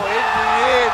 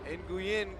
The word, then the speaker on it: Nguyen: Coincidentally, Nguyen called for the foul. And his name actually stands for, it's pronounced win.